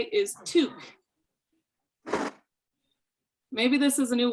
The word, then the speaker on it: toque: Oh, sorry, the first one, 1 syllable, toque. Toque.